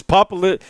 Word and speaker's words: popliteus: First of all, Rick, have you figured out how to pronounce the muscle yet? Yeah, I did. It's Popliteus.